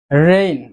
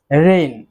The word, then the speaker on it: reign: রেইন। রেইন অর্থ রাজত্ব। বানানটি এবং উচ্চারণটির দিকে একটু খেয়াল রাখবেন। REIGN, উচ্চারণটি হচ্ছে রেইন, অর্থ রাজত্ব।